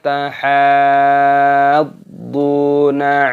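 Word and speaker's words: تحاضون: Wala tahadduna ala ta'amil miskin. Wala tahadduna ala ta'amil miskin. Di sini pada haknya dipanjangkan, ini mad lazim musaqal qilmi dipanjangkan dulu baru dimasukkan.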